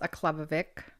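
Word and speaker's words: Aklavik: mom was born born in aklavic uh it's pronounced aklavic in the Northwest Territories it's a place of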